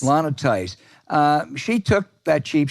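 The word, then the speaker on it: Lana Theis: that false sleazy charge is it Lena theist is that am I pronouncing it correctly Lana Tice Lana Tice uh she took that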